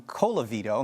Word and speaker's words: Colavito: two sides of course it sounded like i was chewing on rice when i pronounced your name it's colavito not not what i said but uh moving forward